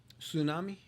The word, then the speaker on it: tsunami: Tsunami. yeah, Right. Yeah, I can see it. that T. Yeah. Yeah, that T.